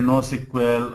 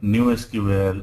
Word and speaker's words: NoSQL: is no SQL yeah you can say no SQL or new SQL or not only SQL also all right so